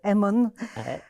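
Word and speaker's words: Innu-aimun: Je le prononce bien. Aimun.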